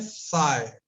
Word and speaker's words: psi: तो इसको हम बोलते हैं, लिखते तो ये है PSI, प्रोनाउंस ऐसे करते हैं साय। प्रोनाउंस ऐसे करते हैं, हिंदी में लिख दिया है मैंने साय, साय। ठीक, प्रोनाउंस करते हैं हम इसको साय।